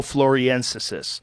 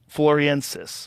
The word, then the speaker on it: floresiensis: of Flores timeline um homo floriensis fluoresis that's how you say it floor so essentially loriensis floriensis homo floriensis wow so there was